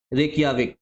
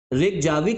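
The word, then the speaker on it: Reykjavík: रेकजाविक आपको दिख रहा होगा बोलने में। मतलब आपको लग रहा होगा रिक जाविक बोलोगे लेकिन प्रोनंसिएशन इसका है रिकियाविक। ठीक है? स्पेलिंग लेकिन ऐसे ही ध्यान रखनी है जाविक वाली प्रोनंसिएशन लेकिन आपका रिकियाविक है।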